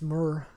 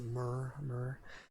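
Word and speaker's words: Muir: this guy um thomas murr i think i i think you pronounce it murr and uh it's it's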